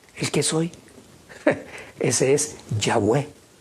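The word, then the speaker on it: Yahweh: que soy ese es yahwe ya fue saben ustedes que el respirar pronunciamos el nombre del señor esa es las dos las dos sílabas ya y ge ya es ya cada vez que tú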